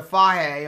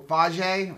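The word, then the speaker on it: Fage: in this yeah we like to buy the fire or faji how do you pronounce that hay whatever hey whatever that is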